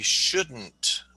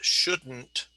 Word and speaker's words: shouldn't: I think schools shouldn't reopen yet. The virus is too dangerous. So that is pronounced shouldn't, and it just comes out of your nose.